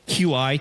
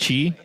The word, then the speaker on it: Qi: He kind of looks like, well, I didn't know that because it was like the QI chargers, which is actually pronounced Chi charging.